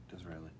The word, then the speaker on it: Disraeli: Disraeli. Yep, okay. Making sure I pronounced that right.